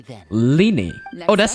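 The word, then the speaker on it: Lyney: I think I'll continue to use the name Linny then Lenny oh that's how you pronounce his name you have a limited amount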